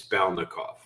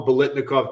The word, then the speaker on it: Balnikov: It's Balnikov. Oh. And I've heard, and I know why you say it, because I've heard other people call him Bolitnikov. No, he is not the stickum-laden receiver of the Raiders in the 70s.